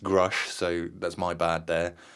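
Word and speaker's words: Grusch: I have to apologise because I mispronounced his name in the original whistleblower episode. I called him Grush, didn't I? Yeah. And when I watched that, I realised it's pronounced Grush, so that's my bad there.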